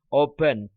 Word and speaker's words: opened: Ingat bacanya jangan opened ya. Opened pakai t, opened.